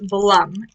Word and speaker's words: Blum: sort of a sticker i am assuming that it's blum and not bloom but there could be an accent on them bloom would be b-l-o-o-m this is spell blum b-l-u-m labs i'm pretty sure this